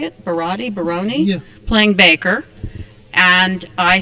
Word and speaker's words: Baroni: Baroni, yeah, playing Baker.